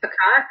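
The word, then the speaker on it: Pacat: Prince trilogy by India's macaque I think is how she pronounces her name PACA T and it's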